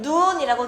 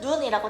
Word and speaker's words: 눈: 그래서 앞에 있는 눈은 눈이라고 길게 발음하고 뒤에 있는 눈은 눈이라고 짧게 발음하면서 단어의 뜻을 구별해 줘.